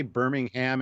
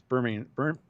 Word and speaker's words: Birmingham: i can't even say i can't say birmingham anymore because i've learned to say it properly it's birmingham birmingham yeah but those don't